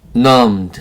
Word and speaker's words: numbed: numbed 하면 마비된. numbed. numb에 ed가 붙여서 numbed가 됐어요. 여기 있는 b가 소리가 나지 않습니다. 묵음이에요. 묵음, b, 묵음.